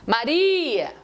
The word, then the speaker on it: Maria: Então a palavra Maria, que tem 3 sílabas, a penúltima sílaba da palavra Maria é a tônica da palavra Maria.